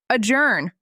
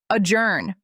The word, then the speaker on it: adjourn: Ajourn. Stress the second syllable. Ajourn. The J makes a soft sound like adjourn.